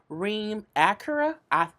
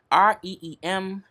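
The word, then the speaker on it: Reem Acra: Reem Acura. It sounds like a car. Reemacra.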